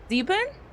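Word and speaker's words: Sieben: Zeben? It's spelled like this. Zeben is spelled S-I-E-B-E-N.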